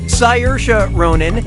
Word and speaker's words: Saoirse Ronan: in Brooklyn yeah puri do how do you pronounce her name Saoirse Ronan Saoirse Ronan say yours Ronan or see our eyes Ronan